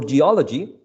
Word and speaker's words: geology: also works so yes for words ending in any of these suffixes such as democracy and geology the stressed is the anti-penultimate syllable if we count from